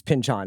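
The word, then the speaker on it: Pynchon: sure virtual and Thomas Pinchin was like it's pinchon actually.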